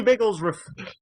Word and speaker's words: Bigglesworth: Literally Bigglesworth. BIGGLESW-R-OTH. Yes, the W is silent.